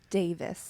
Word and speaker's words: Davies: At Canon Davis, And and it's- it's spelled Davies, Oh, but yes. it's Davis.